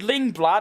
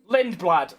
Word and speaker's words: Lindblad: Ball, chuck out Cenod completely, and put Arford Linglad. I still can't Let me just Let me just quickly go and actually Google his name so I I actually say it right. Lindblad.